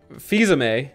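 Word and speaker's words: Fils-Aimé: a little extra info right now Reggie whew Fiza May that's how you pronounce it Fiza May has retired from Nintendo you it hasn't officially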